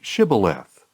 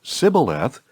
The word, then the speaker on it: shibboleth: no they told him please say shibboleth if he said sibileth because he could not pronounce it correctly They seized him and